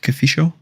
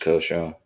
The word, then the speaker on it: Kosho: So do I pronounce it like Kafisho? Kosho? I like that though. You recognize the font, but no, it's just Kosho.